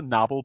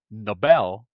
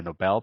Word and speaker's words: Nobel: another like for example you might want to say oh that's a that's a Noble Prize right but that's the thing you know like Nobel would be the way of I'm sorry the way to pronounce the prestig is a word right like the Nobel Prize and that's a noble person noble noble and Noel Nobel